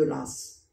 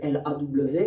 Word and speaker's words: Law: Quand on connaît un tout petit peu l'anglais, on sait que le W ne se prononce pas S. Donc pourquoi le système de Law est-il devenu le système de Lass? Parce que les gens ne parlaient pas bien l'anglais.